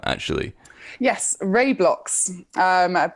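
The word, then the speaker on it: RaiBlocks: former name actually yes Ray blocks um people like to mispronounce it and all manners of terms awry Rey you know um but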